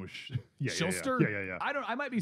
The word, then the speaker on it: Shuster: Schuster. I thought his name was Schuster.